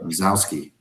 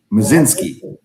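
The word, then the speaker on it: Mlodzinski: Just will get him through 6 innings, and then Carmen You say Mazowski, is that how you say it? Mazinski. Okay.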